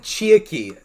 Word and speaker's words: Chiaki: They said Chiaki. Chiaki. We're like... Those of you out there that pronounce it wrong, shame on you and your ancestors.